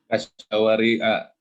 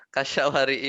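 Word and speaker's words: كَالشَّوَارِعِ: Jadi bacanya harusnya Kasyawari'a wal wal hadaiqo. Tapi salah kalau bacanya gitu. Yang benar kasyawari'i wal hadaiqi.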